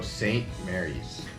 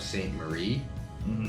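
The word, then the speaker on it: St. Maries: list all right so St Mary's St Mary's not we get a lot of St Marie St Marie I don't know why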